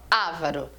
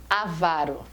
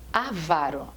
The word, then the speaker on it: avaro: falar essa palavra avaro se a pessoa fala avaro é como se ela fosse uma prostituta se